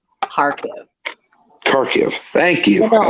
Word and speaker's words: Kharkiv: Kharkiv. Gosh, I know it's hard, and I'm not picking on you. It's just I've had to learn these names too, and it's Kharkiv, no K. Kharkiv.